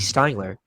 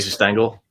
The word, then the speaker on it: Stengel: I feel like if you had, I was looking back at it because Casey Stengler, who was the first, right? I said it right. First manager, Casey Stengel.